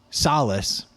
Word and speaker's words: Solace: Solace. Solless sounds bad. So, we'll pronounce it Solace.